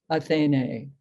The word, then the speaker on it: Athene: end of the line because her name has two long syllables athene so you you will